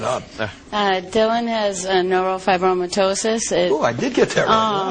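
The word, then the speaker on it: neurofibromatosis: Uh, Dylan has a neurop fibromyitosis. Oh, I did get that right. Yeah, I got it. I pronounced it right.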